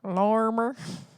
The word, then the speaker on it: Lorimer: Lorimer. So that's how you say it in the South.